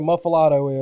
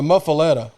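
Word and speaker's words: muffuletta: we're going to say what a muffilato is it's stuffed with limbs it's a muffaletta you didn't even say it right i thought there was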